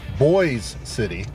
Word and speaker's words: Boise City: my subscribers Corey driver it's actually pronounced boys City so thank you for